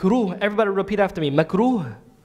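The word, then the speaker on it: مكروه: everybody repeat after me mekuru it has like an H sound at the end so if you want to spell it it's Mak ROH right macro macro means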